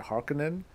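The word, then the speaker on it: Harkonnen: har or the harkonen I pronounced it harkonen and I've pronounced it like that for many many years and then so when they said harken in I was like this sounds weird I don't like this I say har Conan doing 2000 no no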